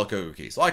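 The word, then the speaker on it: CocoCay: And they said, you know, the Bohemians pronounce it Coco Key. And so, we're going to call it Coco Key.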